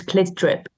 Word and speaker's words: CLT DRP: Let's talk about the tour, because I was going to talk about, how do I pronounce the band name? It's Clit Drip.